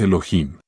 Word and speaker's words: Elohim: La H tiene sonido, se pronuncia como J, de manera que su pronunciación exacta es Elohim.